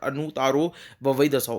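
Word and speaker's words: Anuttarovavai Dasao: और दूसरा है अंता गदा दसाओ के साथ दूसरा है अनुतारो ववाई दसाओ।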